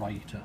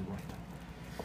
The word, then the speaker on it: raita: called a raita, which people in America always seem to pronounce incorrectly and they call it a raita, but it's not, it's a raita.